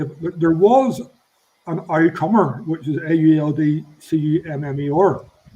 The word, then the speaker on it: Auldcummer: It was from Crumber, but it was written down on a label that in the vernacular, in the way that the Ulster Scots dialect would have pronounced it. So back in the day, as well as having Old Crumber, there was an Aucummer, which is AULDCUMMER. Yeah, it's the Ulster Scotch pronunciation.